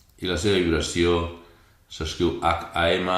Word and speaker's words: Ham: la seva vibració s'escriu H-A-M, la H es pronuncia com una J espanyola, HAM, repeteixes mentalment 3 vegades, HAM, HAM, HAM.